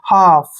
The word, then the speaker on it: half: अब देखिए next word, HALF, यहाँ भी F से पहले L आया तो L को आप साइलेंट रखिए, इसको पढ़ेंगे हाफ।